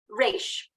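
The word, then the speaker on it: ריש: Resh.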